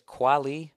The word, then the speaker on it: Kweli: talk about last week, it's pronounced, I still can't say, it's Kweli. I've never heard somebody say it. Talib Kweli. I don't fucking know what his name is. Quali.